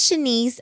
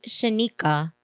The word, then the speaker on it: Shanice: My name is Shanice, and she calls me Shanika by accident.